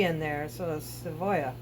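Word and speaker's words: cebolla: uh tortilla is tortilla anything with a double L is y y is not pronounced like seoa it's uh a little bit of v in there so sooya seya right okay so oh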